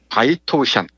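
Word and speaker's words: 白头山: 기백이 넘치는 한국 호랑이로 성스러운 바이토우샨, 이 백두산의 중국식 발음입니다. 바이토우샨 꼭대기, 위대한 용의 정령이 사는 동굴에서 숨을 거두었다.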